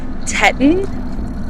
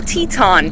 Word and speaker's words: Teton: van Powers Grand Teton I know it looks like it's spelled tetan but I actually watched the CES unveiling of this bike and the guy was like this is the Teton so that's what I'm going with Grand Teton right now